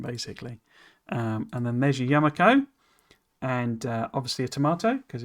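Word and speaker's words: Yumako: The Yamako was because it sounded tomato Yamako. That's sort of where it's coming from. But it led to a lot of people pronouncing it. They weren't pronouncing the yum part. It was Yamakos, as in tomato, Yamako.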